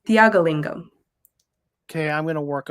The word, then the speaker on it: Thiyakalingam: Since I have you on here, what's the correct pronunciation of your last name? It's Thiyakalingam.